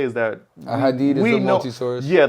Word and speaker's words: ahadith: But basically what I'm trying to say is that a hadith is a multi-source. Yeah, like they're very, That's how you pronounce it, right?